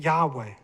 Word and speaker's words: Yahweh: And all these references, by the way, state that the name is either or likely or is pronounced as Yahweh.